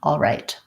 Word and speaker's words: alright: that one's pretty straightforward it's just like our all with our dark L and right same as our ite I sound alright first syllable stress that's alright with me